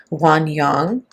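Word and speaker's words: 涌泉: That's how we would say in English or the original pronunciation would be wan yang.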